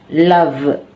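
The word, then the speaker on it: lavent: Ils, elles, se lave. Lave akhirannya ent, tapi nggak diucapkan ent-nya itu. Jadi, kalau kita tuliskan ils, elles, se laven, akhiran ent.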